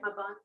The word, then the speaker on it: Mabon: But the sacred Sabbat of fall equinox is Mabon, right? Did I say it right? Mabon.